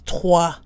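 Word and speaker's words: trois: as the number to the final S is silent unless followed by a vowel so 3 on its own is tois tois followed by a consonant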